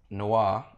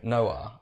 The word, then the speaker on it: noir: Was saying like Noah or something like that.